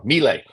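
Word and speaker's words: Milei: I wrote this down melee melee is how I pronounce his name uh they credit his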